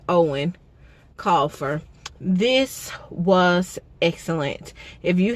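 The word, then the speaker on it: Eoin Colfer: I think that's how they said that's pronounced, Owen Colfer.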